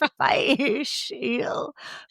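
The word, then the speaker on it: Fèis Ìle: This year's Fish Eel After a few Festival.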